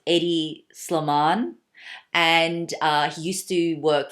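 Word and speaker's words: Hedi Slimane: no excuse my pronunciation I think his name is pronounced Eddy slow Mon and he used to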